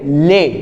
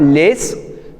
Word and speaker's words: les: इफ यू इफ यू इफ you notice we are saying ले नॉट लेस because S इज a consonant so वी आर not pronounce it सो ले your again